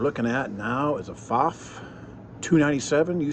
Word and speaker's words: Pfaff: if I say faf you say faf it's the name you'll always be corrected on because it's pronounced one way or the other I'm convinced of that